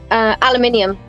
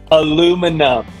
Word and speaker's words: aluminium: Aluminium. This one bugged me. Aluminum. Aluminium. You don't have to be phonetically correct.